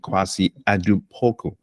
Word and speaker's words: Kwasi Adu-Poku: So today we're going to be having a conversation with Kwasi Adu-Poku. I believe I pronounced that correctly.